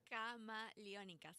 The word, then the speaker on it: Camaleónicas: Camaleónicas. It's like chameleon For chameleon? in Spanish and plural because I'm not just talking about me.